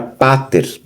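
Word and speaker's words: πατήρ: Depois tem a palavra pater, pai. Pter, vogal tônica final aqui, ter.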